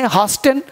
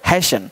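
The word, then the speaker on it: hasten: अब देखिए यहाँ पे दिया है एच एस टी एन, अब पढ़े हास्टन, हास्टन ही पढ़े हैशन, हैशन का मतलब जल्दी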